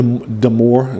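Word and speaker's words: Darmour: it's produced by Larry deore it's actually de deore it's a it's spelled D armor but armor is with an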